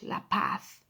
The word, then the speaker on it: La Paz: La Paz, the letter Z there, you read that as well, yes, at the end of the word. It's like a TH, La Paz.